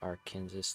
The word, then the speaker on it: Arkansas: No, like it's spelled R Kansas, but we say it Arkansas.